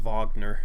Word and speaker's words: Wagner: on the bench because he's definitely a part of their future I like vogner too I think it's pronounced vogner because he's German but he's he's a